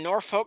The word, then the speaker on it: Norfolk: Lane grew up in Norfolk, Nebraska, great community northwest of Omaha. Can we settle a debate here? It's Norfolk. It's Norfolk. There is no R in the second syllable.